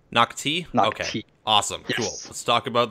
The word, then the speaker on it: Nak-Thi: the reveal of noi is that how you pronounce that planet's name nocti nocti awesome cool let's talk about that then what